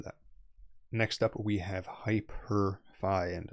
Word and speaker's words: HypurrFi: Next up, we have HyperFi, and I'm pronouncing it like that because it's Hyper with a P-U-R-R, as you can see here.